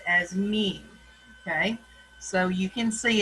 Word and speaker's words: mu: with a u so you would pronounce that mean like what a cow does moo moo moo but it's mu okay then you have